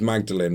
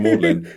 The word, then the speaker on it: Magdalen: I thought it was Magdalene when I worked there, and people laughed. Even just the people who worked in the cinema were like, oh, it's Magdalene. Like, well, it's spelled Magdalene.